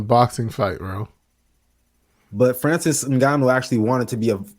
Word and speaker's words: Ngannou: You know, even though as I said, him and the Francis, how do you pronounce that last name? Ngannou.